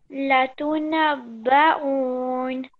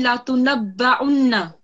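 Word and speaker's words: لتنبؤن: Latunabba'un. Okay, now that was not correct. So 1 mark down. It's meant to be latunabba'unna. Latunabba'unna.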